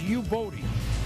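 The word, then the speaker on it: Youboty: And Buffalo likes picking these guys, but this is pronounced Yuboti, but we're gonna have to call him Casey and the Sunshine Band.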